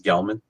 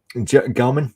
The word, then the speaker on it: Gelman: right I think it's I think it's Gelman Gelman okay so I'm wondering if